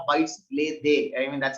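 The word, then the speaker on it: arbejdsglæde: It's pronounced like bites lay they.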